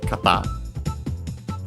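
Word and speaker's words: 方: to uh the noun kata on its own accented on the last syllable.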